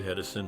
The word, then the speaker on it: Hedison: David Hedison holds a unique place in popular culture, as his name is part of the Statler Brothers song The Movies, rhyming with Thomas Edison.